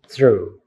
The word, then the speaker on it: through: it's only one syllable are there any silent letters on that one the answer is yes the silent letter of G the silent letters of H because it is pronounced true okay now what about